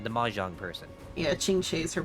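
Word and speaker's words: Qingque: Yeah, Chingchi is her pronunciation.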